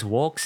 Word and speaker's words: Vox: Note that the letter V in Latin is pronounced like a W. The V sound, or the voice labial dental fricative, didn't actually exist in Latin.